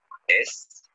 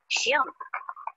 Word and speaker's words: Schirm: Der Schirm. Aha, der Schirm. Das ist ein Schirm. Richtig. Bitte, wie schreibt man Schirm? S-C-H-I-R-M. S C H I R M. Schirm.